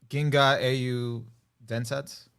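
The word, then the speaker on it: 銀河英雄伝説: Ginga Au Densetsu.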